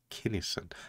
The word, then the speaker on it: Kinison: in the next one Kinison kinnison it's the only way it can be pronounced killer Sam Kinison